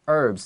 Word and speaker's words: herbs: 好，这边的话，我们看下一句话，他说 During those times，在那个时候，在那个年代里面呢，怎么样？Doctors would gather herbs。这个 herbs 指的是药草。其实有时候我也会听过人家讲 herbs，好像是英式的说法会讲 That is herbs especially British English, yes. 所以说在这边的话，美式英语会讲 herbs，那个 h 是不发音，就像 hour 那个 h 不发音一样哦。那时候呢，Doctor would gather